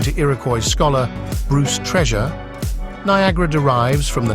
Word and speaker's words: Niagara: is an onyera Lee Red Jacket pronounced Niagara in the spring of 1820 as if it were written oniangara several figures are mentioned